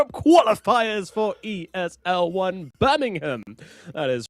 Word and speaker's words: Birmingham: But either way, you've been saying like Birmingham, you know, you've been doing this like real twang and it it it's been getting to me. It's Birmingham.